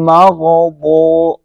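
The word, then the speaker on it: المغضوب: আপনি যদি দদের জায়গায় জ উচ্চারণ করেন তাহলে এটা আপনার টোটালি ভুল, লাহনেজ হলে আপনার নামাজ বাতিল হয়ে যাবে। সোজা হিসাব, আপনার নামাজ বাতিল হয়ে যাবে। দদকে দ দিয়ে উচ্চারণ করতে হবে।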